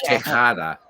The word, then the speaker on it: Tejada: But if you can do it, it's Tejada. It's a softer guttural sound.